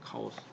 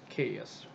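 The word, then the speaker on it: chaos: 카오스. 케이어스. 그리스어로는 카오스고 영어권에서 가져가가지고 자기 마음대로 발음을 했어요. 케이어스라고 그래요. 케이어스. 자 이렇게 발음하면 안 됩니다. 이 영어식으로 발음하는 거고 정확한 발음 카오스다.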